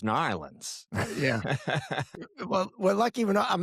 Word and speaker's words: New Orleans: It's like saying New Orleans. It's New Orleans.